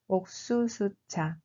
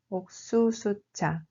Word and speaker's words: 옥수수차: Il se prononce en réalité comme 옥수수차. 옥수수차.